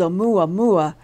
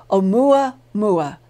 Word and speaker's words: Oumuamua: his conviction that the long strange object called omuamua that came near our sun and solar system